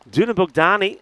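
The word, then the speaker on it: Dunabogdány: What I can tell you is Dunabukdani that is how it's pronounced by the way.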